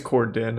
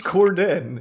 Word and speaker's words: Corden: Is it actually James Corden or is it James Cordon? I think it's Corden.